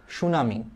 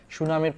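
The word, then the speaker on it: tsunami: দা correctly spelled word সুনামি just খালি মনে রাখবা সুনামি শব্দের বানানে সামনে একটা টি আছে এটা জাপানিজ শব্দ সুনামি শব্দটা হচ্ছে এটা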